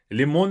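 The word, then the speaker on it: лимон: In English, we have lemon, so the stress is on the first syllable. In Russian, it's on the second syllable. That's why it's going to be limon. Not so much of lemon, but limon on the o.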